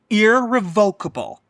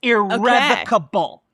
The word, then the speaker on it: irrevocable: Irrevocable is not a word. It's irrevocable.